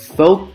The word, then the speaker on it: folk: Folk dancing. Folk dancing. Make sure you pronounce folk, folk, folk, folk dancing.